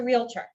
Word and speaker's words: realtor: so what is a realtor what is the definition of a realtor so a noun pronounced real tor someone who solves problems